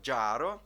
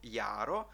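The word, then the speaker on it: jaro: або літера є Так хто вивчає англійську то одразу ж читає це слово jро так роби не потрібно друзі тому що це є слово яро і означає воно весна чудове слово яро далі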